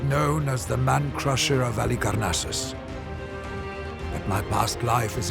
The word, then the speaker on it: Halicarnassus: How do you pronounce it? Halicarnassus.